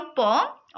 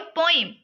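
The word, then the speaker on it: poem: अच्छा एक और बात अगर मैं कभी प्रोनाउंस कर रही हूं पोम और अगर प्रोनाउंस कर रही हूं पोयम तो इसकी प्रोनाउंसिएशन बेसिकली दोनों तरीके से सही है। बस एक ब्रिटिश एक्सेंट है और एक अमेरिकन एक्सेंट है।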